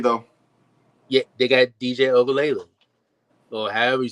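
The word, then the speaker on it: Uiagalelei: Yeah, they got DJ Ogalele, or however you say his last name.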